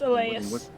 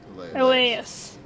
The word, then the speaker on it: Elyas: But it's Elias. Elias. So Elias with a Y. It's how do you spell it?